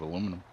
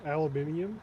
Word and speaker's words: aluminium: No, but it's made out of aluminum. You mean aluminium or aluminum?